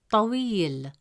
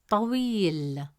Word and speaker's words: طويل: comes immediately after we, it stretches the short E sound into a long E sound. Instead of pronouncing it as we, the presence of ya makes it we. As a result, the correct pronunciation of the word is طويل, طويل.